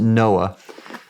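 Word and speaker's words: NOAA: For example, when I was with the National Oceanic and Atmospheric Administration, we've pronounced it Noah.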